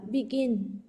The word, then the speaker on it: begin: Động từ có hai âm tiết sau nhá, cô sẽ có là begin, Đó, vì cái trọng âm nó rơi vào âm tiết thứ hai, begin.